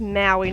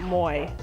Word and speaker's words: Maui: this title screen is, I think it's probably pronounced Maui, not Moi.